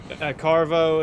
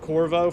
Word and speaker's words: Corvo: Carvo, it's play on, like, he didn't pronounce it Corvo from Dishonored, but he's like, oh, you bring Dishonor onto the name, dude.